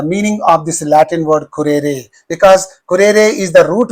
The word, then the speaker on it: currere: Select the correct meaning of the Latin word currere. You know that very well. Currere. Currere. This is how you have to pronounce this word.